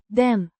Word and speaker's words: den: Pronounced. den With a short i like the e in bed.